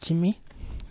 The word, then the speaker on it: Tine: here's where the change comes in Ard Rí of Tine so apparently it's pronounced "chimmy" in Irish Gaelic anyways this here is